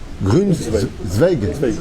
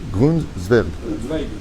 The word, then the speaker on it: Grunweg: Comment on le prononce ce nom? Grunweg. Grunweg. Ok. Pour ne pas l'écorcher, je préfère demander. Zwerg. Ok? C'est ça? Zwerg. Grunweg.